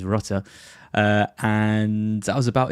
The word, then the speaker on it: Rutter: And then I've got Jinho Router or Rutter as I learned is actually pronounced pronounced. I stop trying to give him some weird French like tinge. It is is Rutter.